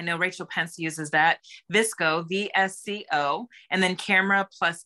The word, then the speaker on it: VSCO: one number two is visco it's spelled v-s-c-o all capital letters and number three is Camera Plus and the number two so that's Lightroom I know Rachel Pence uses that visco VSCO and then camera